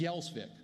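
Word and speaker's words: Gjelsvik: and they went through at ellos Island the given name wasn't thune it was yellsvik it was spelled g-j-e-l-s-v-i-k a lot of consonants there and the immigration officials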